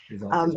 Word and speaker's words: Resultist: word result with an IST on the end. Resultus.